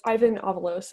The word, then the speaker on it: Ivan Avalos: pick for red um is ivan avalos i think it's how you say his name uh catherine as a cow player what do you think of this pic yeah um well it's ivan avalos actually uh uh ivan's